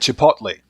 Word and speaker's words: Chipotle: here so they're really good so cellcraft had Chipotle okay I got the pronunciation of that correct hendle got a mass